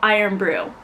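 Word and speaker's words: Irn-Bru: So they have a soda called Iron Brew, but they spell it IRN space BRU.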